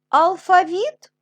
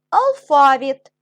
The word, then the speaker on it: алфавіт: позначте в них наголос деякі слова в українській мові мають подвійний наголос завжди завжди алфавіт алфавіт і так і так буде правильно це подвійний наголос домашнє завдання сторіночка 69